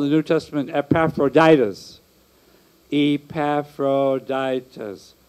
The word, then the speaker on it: Epaphroditus: Epaphroditus. Five syllables.